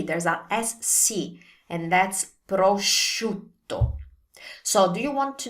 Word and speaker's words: prosciutto: There's no G, there's a SC, and that's prosciutto. So do you want to know how to pronounce this correctly? Here's the key. Think of shoes. Prosciutto, shoe, prosciutto.